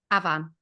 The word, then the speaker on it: Avan: under two no way so how do we pronounce his name Avan Avan like a v a an Avan why